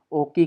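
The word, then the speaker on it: を: जैसे लिखते इसको डब्ल्यू ओ है। लेकिन एक्चुअल में इसको प्रोनाउंसिएट ओ करेंगे। लिखा जाता है। प्रोनाउंसिएट ओ होगा।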